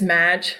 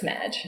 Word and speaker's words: Madge: It's Madge. It's spelled MAAAHGE. Whoa. It's like Marge, but it's Madge.